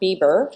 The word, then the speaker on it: Biber: two West coasters Eric Bieber who is pronounced just like Justin Bieber and so we'll be